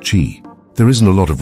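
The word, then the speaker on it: qi: is to correct imbalances of energy or Chi pronounced Chi there isn't a lot of research specific to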